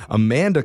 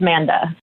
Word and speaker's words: Manda: It's actually just Manda. Oh, just Oh, the first A is silent.